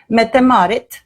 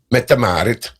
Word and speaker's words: Mette-Marit: about metamar how do you say metamarit metamarit metamarit okay um and here she is styling a